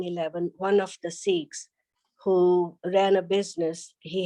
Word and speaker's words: Sikh: disciple point one seek which is pronounced sikh in punjabi is a word which